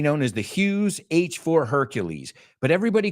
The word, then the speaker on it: Hercules: that's interesting because there we can learn how to pronounce Hercules you say erculus we say Hercules in English right so um now